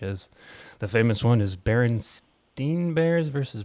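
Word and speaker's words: Berenstain: actually was spelled s-t-a-i-n i guess it's still technically pronounced steen so it wasn't some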